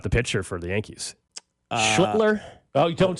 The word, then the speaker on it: Schlittler: Yeah, Schlittler.